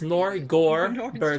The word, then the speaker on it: Norgorber: It's actually pronounced Norgorber, so Norgorber, if you want to do the whole proper pronunciation of it.